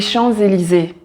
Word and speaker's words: Champs-Élysées: champ et Élysée normalement des champs le s est muet on ne le prononce pas mais quand tu as une voyelle qui suit après on prononce le S ensemble avec la voyelle et il a un son de Z et donc on dit